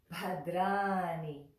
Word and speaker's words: Bhadrāṇi: Bhadrāṇi, Bhadrāṇi. Remember to roll your R's.